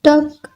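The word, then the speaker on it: talk: करने दो लेट मी टॉक लेट मी टॉक एल की आवाज साइलेंट है कुछ खास नहीं नथिंग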